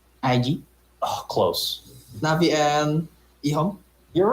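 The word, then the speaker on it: EHOME: Rhymes with flea bone. Navi and IG? Oh, close. Navi and Ihong?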